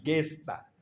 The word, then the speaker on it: gesta: Ya, gesta. La G es sonido de G suave, según la pronunciación castellana.